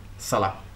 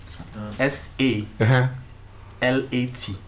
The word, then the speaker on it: Salat: S-A. L-A-T. Okay, put your hands together for it. Salah! I think that the more righteous pronunciation of the word is Salat.